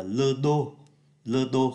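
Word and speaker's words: le dos: cả cái phần này gọi là lơ Dodo không phát âm ký tự s là cái lưng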